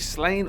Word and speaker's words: Sláine: The barbarian fantasy series Sláine, or Sláine to give him his proper Irish pronunciation, was created by then husband and wife team Pat Mills and Angie Kincaid in 1983.